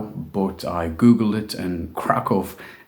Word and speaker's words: Kraków: some people pronounce it Krakow but I Googled it and Krakow is the nearest approximation I can give to the Polish dude in the audio clip um krakov is the second largest